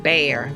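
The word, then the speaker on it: Bexar: was at butthereum and bear b-e-x-a-r is still there it just was recently renovated theorem b-e-t-h-u-r-u-m and bear b-e-x a r don't ask me where that pronunciation came from grandparents deserted house is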